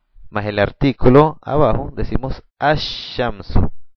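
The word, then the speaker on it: الشمس: el artículo abajo decimos as shamsu as shamsu no pronunciamos el lam pero si lo escribimos y decimos as asamu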